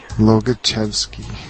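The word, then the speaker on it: Łobaczewski: Lobaczewski. That's not how it's spelled.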